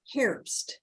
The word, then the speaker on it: Herbst: It's Christy, and then the name is Herbst, like hair.